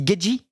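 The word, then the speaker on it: Gaethje: Ça se dit Gagey?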